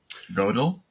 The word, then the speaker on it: Gödel: So one of the most fun examples he gives is Goodell, the and Goodell. I don't know how do you say that. He Godel?